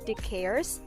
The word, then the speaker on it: deCaires: We pronounce it DeCaires Taylor.